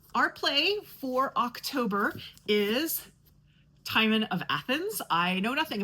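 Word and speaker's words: Timon: I have gotten I have gotten a confirmation that this is pronounced Thyman.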